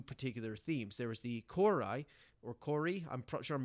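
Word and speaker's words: kouroi: There was the Kori, or Kori, I'm sure I'm mispronouncing it.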